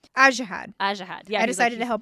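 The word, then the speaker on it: Ajihad: How does the audiobook pronounce this name? Ajahad.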